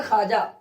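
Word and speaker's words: خواجہ: खवाजा लिखा गया मगर पढ़ा जाएगा खाजा।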